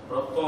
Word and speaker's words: Breton: ബ്രത്നോ ഞാൻ ഫ്രഞ്ച് ഉച്ചാരണം പറഞ്ഞെങ്കിലും എഴുതുന്ന BRETON എന്നാണ്.